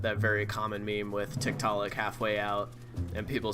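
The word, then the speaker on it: Tiktaalik: people are familiar with tiktalik or tick to lick I believe is how it's supposed to be pronounced it's a um it's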